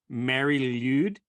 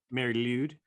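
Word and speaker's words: Mari Lwyd: I think Mary Lude. Okay. Mary Lude. So it's Lude is LWYD. That is a strange assortment of letters. It's probably like a guttural sound.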